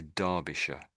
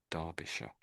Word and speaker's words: Derbyshire: So we say Darbisha. Darbisha.